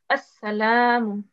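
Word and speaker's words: السلام: Okay, so again, the lam here is a silent letter because the shadda is not on the lam, so it will be pronounced as assalamu, as, because as-salamu.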